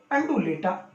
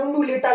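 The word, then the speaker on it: undulata: तो इसका वैज्ञानिक नाम है टिकोमेला अंडुलेटा, अंडुलेटा। थोड़ा प्रोनाउंसिएशन में भी समस्या रहती है कई बार, क्योंकि साइंस के शब्दों को जब देवनागरी भाषा में लिखा जाता है तो इसको कई बार उंडुलेटा लिख देते हैं।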